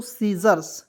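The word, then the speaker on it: scissors: सीजर्स क्या पढ़ेंगे दोस्तों सीजर्स इस को इसमें साइलेंट कीजिएगा एस आई को लिख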